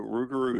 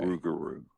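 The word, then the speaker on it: rougarou: Spell that for us if you would, please. So, Rugaroo is R O U G A R O U. Okay. Rugaroo.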